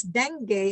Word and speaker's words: dengue: read this american talk about when somebody says dengue i think everybody will laugh at you but that's the correct pronunciation at the same time so tarpaulin is